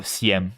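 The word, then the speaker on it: Sejm: It's not the sedum. It's s or cm because basically you don't pronounce the J.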